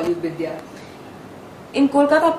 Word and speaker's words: Vidya: When you were in Kolkata, did people actually call you Vidya? In Kolkata, people always call me. That's how they pronounce the name.